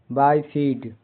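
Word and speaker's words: bifid: कुछ और वर्ड्स हैं जिन में आई का उच्चारण आई होता है जैसे बी आई एफ आई डी बाय फीड द्वखंडित दो भागों में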